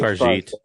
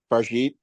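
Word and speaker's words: Fargeat: It's definitely French. I think it's Farjit. Farjit.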